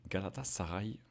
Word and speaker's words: Galatasaray: Prononcé Galatasaray.